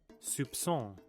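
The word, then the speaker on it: soupçon: The C cedilla is a Latin letter used in languages like French, Portuguese, and Turkish to denote the a soft C sound before A, O, or U replacing the hard ca- Okay, so it's a So it's a soft soft C. And then okay, what is it? Soupson.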